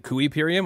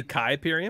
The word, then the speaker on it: Kuiperium: information about kypirium and don't be a noob and pronounce it kuiperium only idiots do that it's quite obviously kai period okay so you took